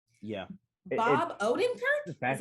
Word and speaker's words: Odenkirk: Bob Odenkirk?